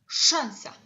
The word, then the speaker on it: szansa: So the first sound is sh. It's represented by two letters, s and z. Sh. Szansa. It's a bit stronger sound than in English.